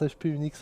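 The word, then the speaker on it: HP-UX: HPUX non c'est c'est ça se prononce HP Unix en fait c'est pour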